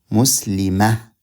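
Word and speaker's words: مسلمة: If we need to pause here, pause, you change Muslimatun, you pronounce it as ha with sukun, Muslimah.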